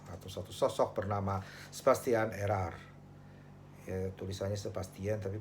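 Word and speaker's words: Érard: satu sosok bernama Sebastian Erar. Ya, tulisannya Sebastian tapi bacanya Sebastian. Ernya ditulisnya E R kemudian ED tapi D-nya tidak dibaca. Jadi bacanya Sebastian Erar.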